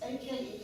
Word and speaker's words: Ake: It's AKE, some people call it AKE, some people call it AKE, but I think the correct pronunciation is AKE.